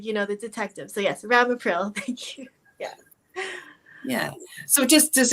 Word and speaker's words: Ramipril: And they are taking Rampril, Ramipril. Yes. So see, you even know the mispronunciation and where to go.